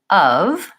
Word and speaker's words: of: this one is terrible we spell it Oh F but we don't say an O sound or an F sound in this word we actually use a u sound ah and a V sound so it should sound